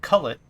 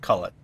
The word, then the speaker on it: cullet: the original batch that broken glass is called cullet and it's recycled uh Glass isn't thrown away